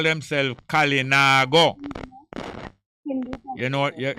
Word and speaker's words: Kalinago: the carib call themselves kalinago you know what you pronounce how are they kalinago kali na go like it i said nah go somewhere but kalina got